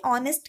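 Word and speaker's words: honest: मैंने बताया था कि ऑनेस्ट के साथ हमेशा एन लगता है, क्योंकि इसका जो प्रोनाउंसिएशन होता है वो आपका ऑ से आता है, ये एक स्वर है, इस वजह से यहाँ पे एन लगेगा, भले इसकी स्पेलिंग एच से स्टार्ट होती है।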